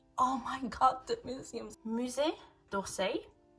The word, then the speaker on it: Musée d'Orsay: Musée d'Orsay, if I'm not wrong, that's how it's pronounced.